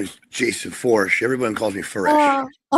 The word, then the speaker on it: Foersch: So, almost like for almost Forch. Yep. Porsche with Forch. There you go. Okay. I'll remember that now. Say, Yep. I keep saying foresh.